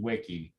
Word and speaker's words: Tlaxihuiqui: Tlaxihuiqui. Say it again. Tlaxihuiqui. Tlaxihuiqui. Tla, like T-L-A. Tlaxihuiqui.